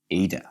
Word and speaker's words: eta: so that you know this letter you pronounce eta although it looks like a small n it is actually a greek e to some extent good now